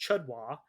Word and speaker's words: CHDW: And CHDW, pronounced chudwa, a clueless het dom wannabe, a straight male dom who is faking his way through it.